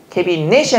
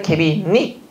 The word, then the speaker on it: 캐비닛: 캐비넷이 아니라 캐비닛.